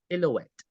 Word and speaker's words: silhouette: A form-fitting, anong pronunciation po nito? Sorry. Silhouette.